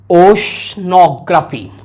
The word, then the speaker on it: oceanography: उसको बोलते हैं ओशनोग्राफी। ओशनोग्राफी, ओशियन है ये, ओशियन से वर्ड बना है OCEANOGRAPHY, इसको हम प्रोनाउंसिएट करेंगे ओशनोग्राफी, ओशनोग्राफी, ओशनोग्राफी, ओशनोग्राफी इसका प्रोनाउंसिएट है।